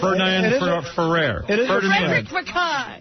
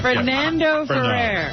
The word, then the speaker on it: Fernando Ferrer: Ferdinand Ferrer.